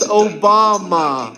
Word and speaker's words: Obama: It's pronounced Obama.